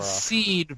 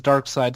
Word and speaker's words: Darkseid: I said seed for all my life before I heard it pronounced as Darkseid, so I don't give a fuck.